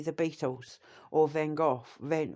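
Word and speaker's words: Van Gogh: memories of things like say the Beatles or Van Go van Van Hawk as it's pronounced um and you know like Da Vinci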